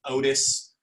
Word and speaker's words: Otus: Otis is one, OTUS is how it's spelled.